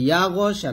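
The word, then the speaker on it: يَغْشَىٰ: আমরা এখানে একটা ভুল করি, সেটা হচ্ছে ইয়া গ, এই যে গয়নটা আমরা মোটা করে, মানে মোটা তো অবশ্যই হবে, কলকলা করে ফেলি, মানে ইয়া গ এরকম একটা উচ্চারণ আসে। তো ইয়া গ শা না, বলতে হবে ইয়াগশা, ইয়াগশা এরকম।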